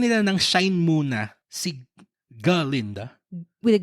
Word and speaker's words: Galinda: mas binigyan nila ng shine muna si Galinda. With the G with the G. The G is silentinda.